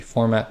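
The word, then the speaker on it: fmt: gonna warn you now I tend to call this the format package because I hate the name foam I just don't like the pronunciation but technically it is funked I believe so we're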